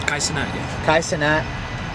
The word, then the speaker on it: Kai Cenat: in general, like Kai Cenat, how do you pronounce his name? Kai Cenat, yeah.